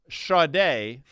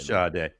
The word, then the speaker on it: Sade: But what I'll tell you is, if you read her name, you wouldn't pronounce it the way it's spelled. Now, Sade, spelled S-A-D-E, Your Love is King, Danny, was one of her many hits.